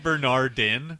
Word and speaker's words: Bernardin: Well, then Bernard is going to get some more Twitter tweets. You're missing the last syllable of his last name, though. It's Bernardin.